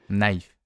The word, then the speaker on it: knife: français donc par exemple vous ne prononcerez vous ne prononcereit pas le mot couteau knife mais bien knife naife mais alors pourquoi ils ont mis un c devant alors je sais bah